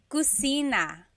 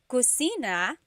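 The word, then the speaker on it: kusina: about the kitchen so Kitchen in theog is cusina cusina so in talug there is no letter C so in Spanish if it's spelled with a c usually in Tagalog it's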